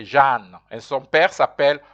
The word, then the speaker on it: Jeanne: You'll notice how you pronounce Jane. You say Jeanne.